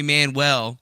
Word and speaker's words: Manuel: nice to meet you you could call me Manuel that's the way I say it so that's the way